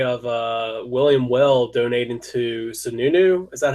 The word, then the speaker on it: Sununu: All right, so let's move on to a big story of William Weld donating to Sununu.